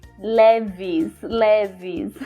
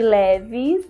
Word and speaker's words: Levi's: era o nome Levi's, que na verdade na língua inglesa é Levi's, porque esse I, né, é o som de I no inglês, né? Nem todas as palavras a gente pronuncia I, mas aí neste caso de Levi's, né, a gente deveria falar Levi's.